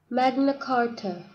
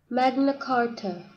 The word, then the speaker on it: Magna Carta: 자, 이제 본론으로 돌아와서 이 대헌장 매그나 카타의 발음을 한번 들어보시죠. Magna Carta. Magna Carta.